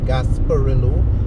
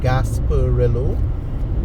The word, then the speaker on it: Gasparillo: a Spanish um accent it's pronounced English so gasparillo gasparillo and um it's a